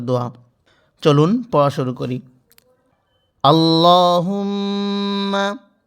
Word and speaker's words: اللهم: আল্লাহুম্মা, এখানে লামের উচ্চারণটা লা বলা যাবে না, ল পড়তে হবে।